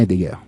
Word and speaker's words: Heidegger: Martin Heidegger. Donc ça, c'est la prononciation en allemand, c'est lui.